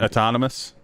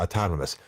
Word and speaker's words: autonomous: that again autonomous autonomous a tone like hippopotamus but autonomous yeah a ton of us I can see it